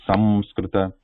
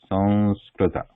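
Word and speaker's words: संस्कृत: So it should be with the Anuswara sound after sa. Sanskrita. It should not be like we should not be using a na sound there. Sanskrita. It should not be Sanskrita or should not be Samskrita. It should be with the Anuswara sound Sanskrita.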